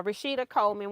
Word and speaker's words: Rashida Coleman: whatever but this was Rashida Coleman I think let me see yeah rashita Coleman want to make sure I say her name right so I got that